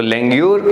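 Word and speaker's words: langur: तो लेंग्यूर, या फिर इसका प्रोनाउंसिएशन लैंगर से भी होता है, याद रखिएगा। इसका जो प्रोनाउंसिएशन है ना वो लैंगर कह के भी इसे प्रोनाउंस किया जाता है।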